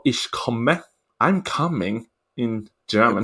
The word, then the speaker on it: Ich komme: She's back with a song called Ich komme.